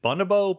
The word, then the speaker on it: bonobo: should ask very quickly, how do you pronounce bonobo? Is it bonobo? Bonobo? I always say bonobo, but Bonobo. I have a Dutch pronunciation, I think.